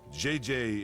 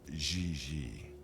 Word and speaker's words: JJ: En français, you pronounce G like J and J like G. She may very well be JJ in America, but in France, she is Gigi.